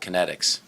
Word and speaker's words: Kinetix: How can folks find out more about Kinetix?